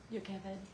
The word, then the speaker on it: Jochebed: Ashlin has already pronounced her name Yakaved.